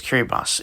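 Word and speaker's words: Kiribati: place there's Poland Cameroon kiribos I think yes people really do pronounce it that way despite the spelling there's Curry boss it um straddles the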